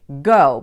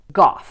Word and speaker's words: Gough: to access the freeway out-of-towners will tend to pronounce this the Dutch way go because of the famous painter van Gogh but in fact this is pronounced Gogh which is a Welsh